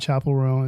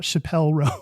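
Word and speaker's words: Chappell Roan: to know this name everyone's been a buzz about Chapel row so I learned it is not Chappelle Ro and I and so I learned how to pronounce it recently so I that's where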